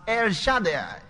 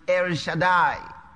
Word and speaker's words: El Shaddai: is jehovah but your fathers knew me as air shaddai many of us pronounce it ere shaddai pronunciation sanjay er that's more difficult to pronounce